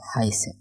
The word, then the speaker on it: heiße: তো দেখেন এইখানে আই আছে, ঠিক আছে, তাইলে এটা হবে হাই, হাইসে। আর এই ক্যারেক্টারটাও আমি দেখাই দিয়েছিলাম, এইটা থাকলে ছয়ের উচ্চারণ হয়, ঠিক আছে।